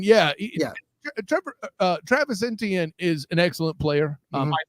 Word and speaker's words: Etienne: So your run game, what do you, I mean, I can't pronounce the kid's last name. What is it? Etienne, yeah. Travis Etienne is an excellent player.